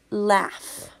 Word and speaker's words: laugh: The last word is laugh. This is the oddball because it doesn't say ah. It says ah, ah. And the U is silent.